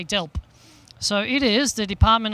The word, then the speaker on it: DELWP: a mouthful de lwp I've been told reliably it's dealt you silent W you just say dealt so it is the